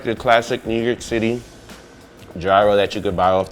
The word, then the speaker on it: gyro: been calling it a gyro but I guess is called the gyro the G is silent and suppose there is